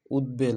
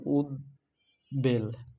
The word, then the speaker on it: উদ্বেল: না এটা কিন্তু উদ্বেল উদ্বেল এটা হলো এটা হলো উদ বেল এখানে হচ্ছে উদের পরে কিন্তু বেলটা আসছে দেখুন এটা প ফলাকে